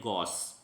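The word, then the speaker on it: gauche: इसे ध्यान रखें गौचे ना पढ़ें, CHE जो है यहाँ सा बना रहा है तो इसे पढ़ें गौस। फूहड़ या दूसरा जो अपन इसको इस प्रकार से पढ़ सकते हैं, प्रोनाउंसिएशन ये है गौस।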